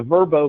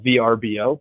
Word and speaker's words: Vrbo: with that but the verbo brand decision the decision to pronounce that verbo beast versus the acronym of VRBO which i think many